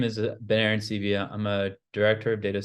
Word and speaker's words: Ben Arancibia: you ahead of time no it was a good pronunciation uh it's exactly how it's spelled um so my name is bener and CIA I'm a director of